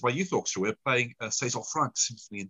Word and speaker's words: César: And to his class, and they sing by César Franck, and it's pronounced it César.